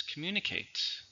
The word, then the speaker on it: communicate: not appealing it's an adjective one syllable same pronunciation don't talk with food in your mouth that's gross evidence communicates communicate means talk with somebody or share information